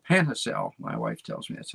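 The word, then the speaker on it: Panajachel: j a c h e l pana pana panhacel panhacel my wife tells me that's how to pronounce it nicaragua three homes plus commercial space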